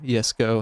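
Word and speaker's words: Jesko: s7 and the koenigsegg jesco yes go however you want to pronounce it a big thing on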